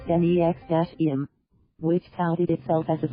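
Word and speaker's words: NXIVM: year prosecutors allege Lanier created the organization instead pronounce NEX - M which touted itself as a professional business providing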